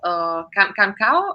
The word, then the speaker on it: Canção: I didn't follow this pre-selection or this festival, Cancao, or what is, how to pronounce Canção, it? Cansao.